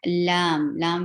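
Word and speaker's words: لام: And lam will be 6 haraka long too, because there are 3 letters involved to pronounce the name of this letter.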